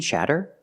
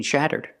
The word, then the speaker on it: shatter: Shudder and shudder are pronounced the same, but shatter makes a different sound because the vowel is a short A sound.